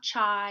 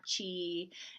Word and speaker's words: chi: It's not chai, it's not chi, it's chi. So kind of like K-I, if you want to pronounce it that way.